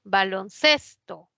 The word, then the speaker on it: baloncesto: voz termina en sld baloncesto proviene de dos palabras balón y Sesto ninguna bueno balón si lleva tilde pero acá ya no porque cuando forma la nueva palabra la mayor fuerza de voz ya no está en balón está en ces baloncesto baloncesto ces es